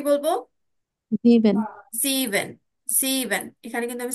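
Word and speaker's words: sieben: ইয়া এরপরে আসছে সেভেন সেভেন কে কি বলবো জিভেন জিভেন জিভেন এখানে কিন্তু আমি স্পেলিং গুলো দিয়ে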